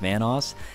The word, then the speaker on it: Vanoss: new to this channel obviously my name is pronounced Vanos and if you guys screwed it up once